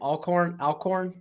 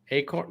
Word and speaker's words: Alcorn: Alcorn. Acorn. No, it's got an Alcorn.